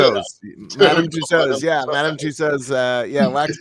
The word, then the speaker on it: Madame Tussauds: Madame Tussauds.